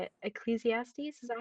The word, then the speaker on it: Ecclesiastes: Ecclesiastes. Is that how you say it? Ecclesiastes.